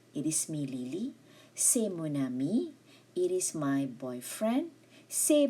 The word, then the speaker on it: mon ami: C'est mon ami. Mon ami. There will be the link there. There's a link there. A liaison.